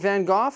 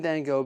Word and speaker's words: Van Gogh: to crack into Vincent Van Go's sunflowers now is it vanoff or Van Go we're saying then go because that's how they say it here in North America now unfortunately when I